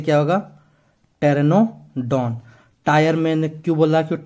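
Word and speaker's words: Pteranodon: से मैंने क्यों बोला क्योंकि पी से तो आपका पी साइलेंट होता है और टी से क्या होगा टेरेनो डॉन टायर मैंने क्यों बोला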